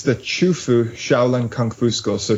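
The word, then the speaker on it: Qufu: potential yeah it's the chuu shaolan Kung Fu school so chuu is spelled qfu it's where confucious was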